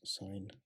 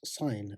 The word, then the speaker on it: sine: 180 degrees minus theta is equal to minus sine theta okay and we can get similar relationships